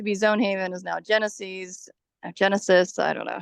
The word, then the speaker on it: GENASYS: app, it's now called Genesis, or it's a weird spelling, GENASYS is I think how they spell it, Genesis. And that's replaced Zone Haven. Yeah, I believe it's pronounced Genesis, which means the beginning.